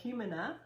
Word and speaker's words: Jumana: Robin Manley said Jumana. I love that. So it's spelled with a J, but it's a huh sound instead.